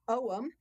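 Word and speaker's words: Ogham: of 25 sacred trees which they called the Owen it's spelled o g h a n like ogam but you pronounce it oh I'm like Owen money that's how I always say to people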